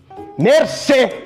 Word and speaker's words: mercê: Mercê! Eu falei mercê! São 2 sílabas!